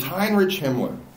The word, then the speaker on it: Heinrich Himmler: words too because I didn't say his name right it's Heinrich Himmler is the guy and he